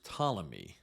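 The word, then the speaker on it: Ptolemy: of his generals was tmy by the way that's spelled with a silent p p t o l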